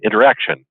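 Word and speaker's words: Interxion: the acquisition of the new, and I always pronounce it incorrectly because of the spelling, but it's how do you say it? Interaction.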